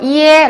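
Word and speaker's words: ie: I와 E가 합쳐졌어요. 어떻게 읽죠? 그죠? 이에 라고 읽어요. 어렵지 않죠? 네, 보시면 이렇게 뒤에 이가 붙으면 이게 결합이 됐을 경우에는 모두 다 어가 아니라 에로 읽는다는 것 여러분께서 이제 기억 확실하게 되셨죠? 그래서 이에라고 읽습니다.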